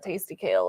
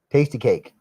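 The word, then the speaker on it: Tastykake: It's not Tasty Kale. It's... What is it? Tasty Cake.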